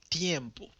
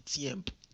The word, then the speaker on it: tiempo: Le prononcer T, c'est langue entre dents et pour faire son sorti. Tiempo. Ou pas dit tiempo.